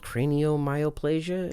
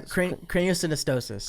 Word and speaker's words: craniosynostosis: But for you, let's kind of talk a little bit on a personal level too, because you also had it's called craniomyoplasia. Yeah, craniosynostosis. Craniosynostosis.